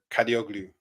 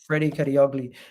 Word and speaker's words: Kadıoğlu: How do you pronounce that? Kadioglu or something like that. Ferdi Kadıoğlu.